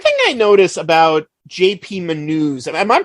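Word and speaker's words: Manoux: you know one thing I notice about JP menus am I pronouncing that right yeah uh one thing I noticed about JP manu's Cusco voice is he so much faster than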